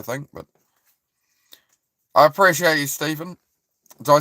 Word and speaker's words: Stephen: Because Stefan is Stefan, right? That's Stefan. Stefan. And it's Stephen, if it's spelt with the PH.